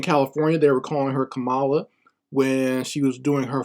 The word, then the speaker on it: Kamala: they were calling her Camala when she was doing her first presidential run they were calling her Camala but now all of a sudden you have to pronounce it camela and it's just ridiculous